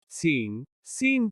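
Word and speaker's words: scene: C is silent in SC combinations. जब C SC शब्दों में आता है तो C का उच्चारण नहीं होता। सीन दृश्य।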